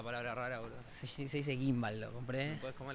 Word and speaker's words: gimbal: Es la primera vez que escucho la G en gimbal. Hay gente que pronuncia cada palabra rara, boludo. Se dice gimbal, lo compré.